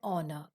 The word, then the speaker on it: honor: air and honor so here the sound h is not pronounced similarly here also the alphabet or letter h is not pronounced we begin by pronouncing from the second alphabet the vowel sound air or no that is why we say an air and honor okay this was